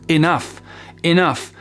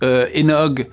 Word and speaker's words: enough: Et vous savez, je pense qu'il se prononce enough. Mais c'est clair que si on le voit dans sa tête écrit, mais qu'on le prononce enog ou inoug, quelque chose comme ça, clairement, vous n'allez pas pouvoir passer votre message.